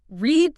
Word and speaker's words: read: Read stays spelled the same, but the pronunciation changes to parda, like the color red.